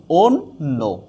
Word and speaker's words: অন্য: তার মানে এই জ বা জফলা যদি থাকে, তাইলে আদ্য অ কি হয়ে যাচ্ছে, ওকার হয়ে যাচ্ছে। কি হয়ে যাচ্ছে, আদ্য অ ওকার হয়ে যাচ্ছে। আমরা যদি উচ্চারণটা লিখি, তাইলে অন্য হয়ে যাবে কি, অন্য।